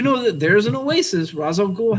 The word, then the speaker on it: Ra's al Ghul: Ra's al Ghul has that oasis, or Raish, if you want to pronounce it wrong.